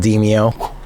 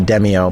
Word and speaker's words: Demeo: If you can't tell, I'm a big fan of a VR game called Deio. And yes, that is actually how it's pronounced, even though everybody tries to call it Deio.